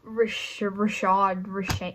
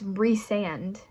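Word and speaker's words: Rhysand: completely wrong except for it's not Rashad whatever it's re-sand and when it's just Rhys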